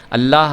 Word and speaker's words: اللہ: ہو یا پیش ہو تو وہ ہمیشہ اللہ والا جو لام ہے یہ پر کر کے پڑھا جائے گا۔ دیکھیں آئیے